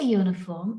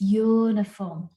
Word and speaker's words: uniform: like i said earlier we are not looking at the first letter of the word rather we are looking at the sound so when we say uniform it's uniform which is not a vowel sound and hence we use